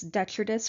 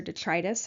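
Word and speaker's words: detritus: dead and decaying matter we call this detrus or detrius I've heard both ways of pronouncing it these are things like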